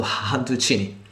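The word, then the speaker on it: cantuccini: han tuccini hunted cine the people from tuscany according to their dialect they don't um pronounce the c as c by s h so honducini they are really nice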